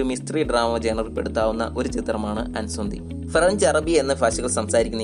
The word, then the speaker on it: Incendies: ഈ ചിത്രത്തിന്റെ പേര് ഇൻസെൻറ്റീസ് എന്നാണ് വായിക്കുന്നതെങ്കിലും ഇതൊരു ഫ്രഞ്ച് പദമാണ്. ഇതിന്റെ ഉച്ചാരണം അൻസന്തി എന്നാണ്.